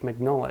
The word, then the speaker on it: Mignola: Apparently it's not Mike Mignola, it's Mike Mignola.